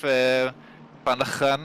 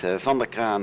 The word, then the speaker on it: Van der Kraan: It's Van der Kraan and De Bruyne, so it was more than good enough. I would say just close enough.